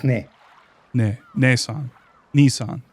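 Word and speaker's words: ねえさん: But it's pronounced Ne. Ne. Neesan. Niisan. Neesan.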